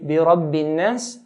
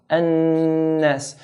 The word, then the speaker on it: النَّاس: So we hold the noon. بِرَبِّن, hold, بِرَبِّن, then let go. قُلْ أَعُوذُ بِرَبِّ النَّاسِ, بِرَبِّ النَّاسِ. If we don't hold the noon and say بِرَبِّ النَّاسِ, then we haven't given the noon its due right.